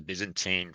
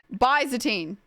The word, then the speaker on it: Byzantine: Byzantine. Is that it? Byzantine. Byzantine. Like busy teen. Yeah. Busy teen.